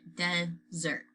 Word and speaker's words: Desert: island called mount desert she pronounced as desert right she pronounced it dessert yeah desert ice cream